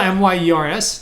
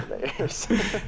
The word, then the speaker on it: Mayers: It's spelled M-Y-E-R-S or M-A-Y? M-A-Y. Okay, yeah, no. Yeah. Like everybody says Myers, but it's actually Mayers. It's because of Mike Myers, probably. Yeah, that's exactly. Yeah. Like, I meant Mayers.